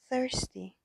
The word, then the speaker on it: thirsty: توجه کنین حرف اولش که سه هست سه نقطه است. این سه نقطه تلفظش باید با سه دندون فرق داشته باشه. مثل عربا که سه نقطه رو وقتی تلفظ میکنن زبون رو میذارن بین دوتا دندونای بالا و پایین و میگن ث ث با سه فرق داره.